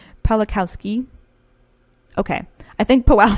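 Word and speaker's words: Pawlikowski: it'll be quran or poly cow ski pollock Kowski wow i said his name wrong the first time I'm so sorry pala Kowski okay I think PO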